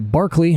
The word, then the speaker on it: Berkeley: Okay, so here's Cotswold, where we left from, and then we came over here to Barkley, which again looks like Berkeley if you didn't know any better, which I did not.